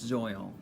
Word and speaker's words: Zoil: album and very interesting there's so many conversations and debates and really how to pronounce that where there's zooms soil but from what I can understand it says it's soil and this band was